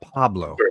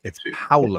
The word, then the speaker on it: Paulo: You have to eat it a little.